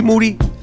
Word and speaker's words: Moody: white folks aka the gringo mandingo aka white Mike here with G moody last name rhymes with duty that's fact yep je